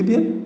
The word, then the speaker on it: the: যেই শব্দটা আসছে মর্নিং, এই মর্নিংটা উচ্চারণ, মর্নিংটা শুরু হচ্ছে কি দিয়ে?